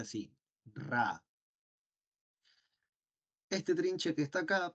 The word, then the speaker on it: Ra: Herederos los de todavía la tradición egipcia se pronuncia así ra este trinche que está acá parece una m